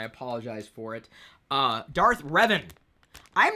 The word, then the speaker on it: Revan: to arrive today my Darth Revan minifigure I mispronounced it the other day and I apologize for it uh Darth Revan I'm not a player of the uh the